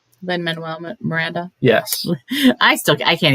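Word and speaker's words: Lin-Manuel Miranda: uh Lynn how do you say his name Len Manuel Miranda yes I still I can't even say it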